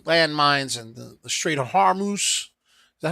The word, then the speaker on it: Hormuz: explosions and the landmines and the Strait of Hormuz. Is that how you say it? Hormuz? Hormuz.